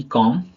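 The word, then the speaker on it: comb: चलिए B silent में क्या होता है, एम के बाद आया बी साइलेंट होता है। एग्जांपल देखेंगे, सी ओ एम बी कॉम, बी ओ एम B Baum, T एच यू एम बी थम, डी यू एम बी डम, है ना।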